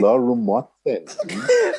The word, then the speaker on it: Olorunmotemi: You don't pronounce Tolu's surname. You sing it. It's Okay. Olorunmotemi.